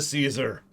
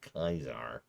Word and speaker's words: Caesar: jot that down towards death to caesar or kaiser excuse me kaiser i know i know that's how it's supposed to be pronounced i don't care because